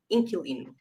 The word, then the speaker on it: inquilino: Yeah, but generally we don't pronounce the U, so it just generally most people say inquilino.